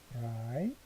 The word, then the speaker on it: drei: 이것도 역시 I 발음이죠. drei.